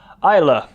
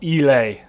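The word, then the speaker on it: Islay: there you have it the pronunciation there isla uh not elay anyway um through here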